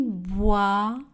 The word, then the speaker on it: boit: Elle boit. Le T est une lettre muette. Du chocolat. Le T est une lettre muette. Chaud. Le D ne sera pas prononcé. Elle boit du chocolat chaud.